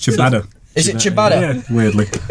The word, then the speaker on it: ciabatta: You ever tried chia batter? Yeah, garlic bread, isn't it? Nah. No, It's pronounced ciabatta.